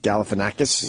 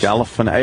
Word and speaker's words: Galifianakis: the Obama Funny or Die interview with Zack Galifianakis. Yes, I want to hear that. I could finally pronounce his name after all these years. Galifianakis.